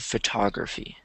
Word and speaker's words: photography: So, image of photography. Cuz you say photograph and you say photographer, but then you say photography.